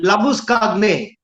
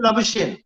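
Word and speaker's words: Labuschagne: It's Labuskagne. He's a South African and his name is Labuskagne. So whatever Right. the Australians do, they call him Labushane because they can't pronounce his name.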